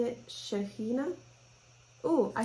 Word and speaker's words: Shaheena: one came from israel are you pronouncing it shaheena oh i spelled it wrong and it's actually two e's sorry about that thank you shira is shaheena s-h-a-h-e-e-n-a shahina thank you um so amala is a fantastic